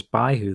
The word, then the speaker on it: Baihu: The west is represented by someone called Byako, the Japanese pronunciation of white tiger, also pronounced Baihu in Chinese.